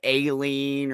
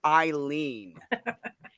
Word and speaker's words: Eileen: And everybody pronounced it wrong. They'd say Aileen or Arlene. And she'd say, no. And she'd lean on the wall and go like, Eileen.